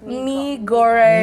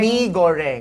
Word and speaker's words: mee goreng: Mee goreng. Mee goreng.